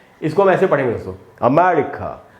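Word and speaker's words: America: इसको हम ऐसे पढ़ेंगे दोस्तों, अमेरिका। अब इसमें मैं में जो ए है वहाँ पर ज़्यादा रुकना है आपको, वहीं पर स्ट्रेस है, मैंने उसको अंडरलाइन कर दिया है। तो इसको हम पढ़ेंगे अमेरिका, और क के बाद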